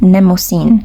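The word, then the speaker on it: Mnemosyne: bit hard to pronounce try to absorb the m and just focus on the N Nemo scene then you would pronounce it in a much better way she is actually considered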